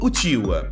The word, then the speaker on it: Uchiha: Já o sobrenome Uchiha também pode ser pronunciado como Uchiwa, e significa leque de papel.